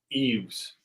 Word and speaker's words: Yves: Eves. Yves? You think it's Eves? Yeah. Like Yves Saint Laurent, like the designer.